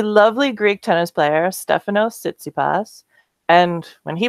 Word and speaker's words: Tsitsipas: Greek tennis player, Stefanos Tsitsipas. And when he pronounces his name, somehow he pronounces that T at the start of his last name.